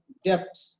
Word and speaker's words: debt: increased my responsibilities and I had got into debt. D-E-B-T, debt. Huh? You should not pronounce it as a debt.